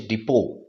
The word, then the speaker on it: depot: এটা হচ্ছে স্পেলিং, আর DEPOT এই স্পেলিংয়ের প্রোনাউন্সিয়েশন বা উচ্চারণ হচ্ছে ডিপো, এটাকে কিন্তু মনে রাখতে হবে।